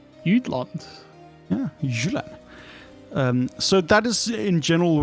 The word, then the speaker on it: Jylland: Jutland is the English. Jylland is what we call in Danish. Jutland. Yeah, Jylland.